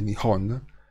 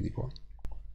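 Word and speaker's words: 日本: Oggigiorno si dice Nihon in Giappone. Non si dice più Nippon, anche se può dire anche Nippon, non è che c'è dov'è, però la forma più corrente è Nihon, adesso, però anche aspirata, Nihon e Ikimasu.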